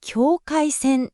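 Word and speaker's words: 境界線: Trong tiếng Nhật đọc là “kyōkaisen”.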